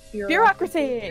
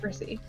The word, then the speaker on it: bureaucracy: weather up here ah cracy that's how to pronounce that word a lot of people got confused by that bureaucracy not mercy it's as bad as it sounds nothing